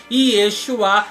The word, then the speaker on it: Yeshua: cheguei a conclusão aqui Yeshua é a forma correta de se pronunciar o programa Jovem e